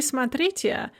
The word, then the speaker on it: смотрите: It's они смотрят, but смотри, смотрите. The stress shifted back to the stress of the infinitive and the ya form.